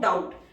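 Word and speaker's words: doubt: this week comma and we have no डाउट, एक साथ बनाएंगे outline, and we have no डाउट, डाउट बी की sound silent है, डी को half किया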